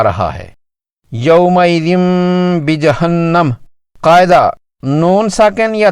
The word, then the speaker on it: یوم: ادا کیا جائے گا۔ اسے معروف لہجے میں یوم پڑھیں گے، کچھ لوگ اسے اردو یا فارسی لہجے میں مجہول طرز پر یوم پڑھتے ہیں، جو کہ غلط ہے۔ اس کا درست لفظ یوم ہے۔ یہاں یومئذ کی تنوین